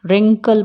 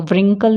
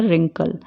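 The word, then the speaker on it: wrinkle: रिंकल पढ़ेंगे, इसको व्रिंकल नहीं पढ़ेंगे, क्या पढ़ेंगे? रिंकल।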